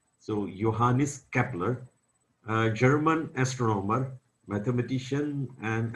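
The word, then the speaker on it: Johannes: picture of yanis kapler in German language J is pronounced as y so johanis Kepler German astronomer mathematician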